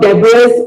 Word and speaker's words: debris: It is not debris or debris. It is pronounced as debris. Debris. The S is silent.